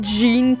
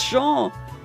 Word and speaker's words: Jean: People always going Jean Kerstein and like, "Oh, it's Shaw. It's a French show."